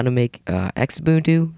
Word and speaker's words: Xubuntu: Today I'll be showing you how to make uh Xubuntu Zabuntu u yeah pronunciation is different between people anyhow uh look a lot like OSX.